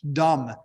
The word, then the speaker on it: dumb: Dumb, D-U-M-B. Well, where's the B?